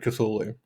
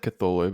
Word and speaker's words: Cthulhu: th yeah oh yeah the trouble is it's a language that is not meant to be spoken by humans so the correct way to say it is is impossible we don't have the